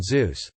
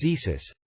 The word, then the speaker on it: Zeus: I chose to do my project on Zeus. However, I was nervous and for some reason referred to him as Zesus, Jesus with a Z.